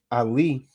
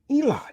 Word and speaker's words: Ali: amola kites came along they distorted ali too eli and you damn simple as jakes go around and call it the book of eli what the hell are you saying man it's the book of ali i'm teaching you something that you don't know see this is the this is the proper pronunciation because we have the alif right ain't got no damn e the proper pronunciation is ali the muslims hold on